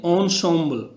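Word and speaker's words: ensemble: और एक चीज़ और देखी होगी आपने इसमें, इसकी स्पेलिंग के हिसाब से इसका उच्चारण बिल्कुल अलग है। इसको हम बोलेंगे ऑनसॉम्बल, ऑनसॉम्बल्स।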